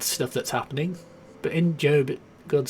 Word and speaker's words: Job: in the Bible called job or job it's it's spelled job but called called job talks about a man who had all these